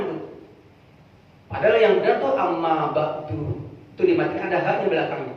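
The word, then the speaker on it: أما بعد: Makanya ketika ada orang berpidato, Alhamdulillah, kemudian akhirnya amma ba'du, ada yang amma ba'da, gitu. Itu sama-sama benar gitu.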